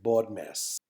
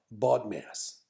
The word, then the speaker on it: BODMAS: okay so learn this word the magic word baud mass say it right now baud mass say it again baud mass okay repeat after me bought mass great you've said it three times learn that